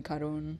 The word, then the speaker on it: Karen: Cuz I mean my name is Karen, but I usually, you know, people down here call me Karun or Karna or Karna.